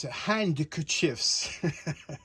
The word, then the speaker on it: handkerchiefs: Now, traditionally, handkerchiefs is spelt with a D between the N and K, and it's handkerchiefs. And the D is silent.